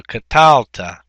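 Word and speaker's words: קָטַלְתָּ: And of course, the accent is in the middle syllable and not on the end.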